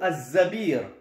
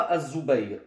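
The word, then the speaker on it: الزبير: Mais Cheikh Mohammed Mazian, dans son charh de cette biographie, nous explique que le plus correct et le plus authentique, c'est qu'il s'appelle plutôt Az-Zabir et non pas Az-Zubayr.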